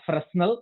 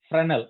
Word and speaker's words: Fresnel: It's not Fresnel, it is Fresnel, S is silent.